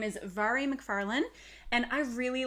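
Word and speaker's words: Mhairi: and i know that her name is not pronounced the way that it looks it's vari so her name is vary mcfarlane and i really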